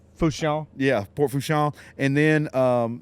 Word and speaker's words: Fourchon: Port Fourchon, which is actually the Fouchon.